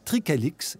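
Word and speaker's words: Tricalyx: C'est fini tout ça, plus maintenant, car le 29 octobre 2021, la société Tricalix, ça s'écrit T-R-I-C-A-L-Y-X, la société Tricalix, donc, devenait la première pépinière au Québec avec une licence de Santé Canada.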